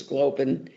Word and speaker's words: Glauben: Europe, I know that his last name, which he pronounces Glauben, is also Glauben.